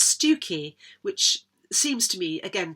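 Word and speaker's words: Stiffkey: among other things that s-t-i-f-f-k-e-y is not pronounced stiff-key it's pronounced stuki which seems to me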